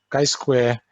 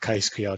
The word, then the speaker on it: chi-square: not good usually um chi-square uh collection tables might have okay Square in particular um sorry you might say I call it some they have different pronunciations they call it Kai Square Chi Square anyway so you have